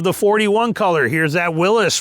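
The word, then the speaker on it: Willys: want to say it but it is technically pronounced Willis is how he pronounced his name even though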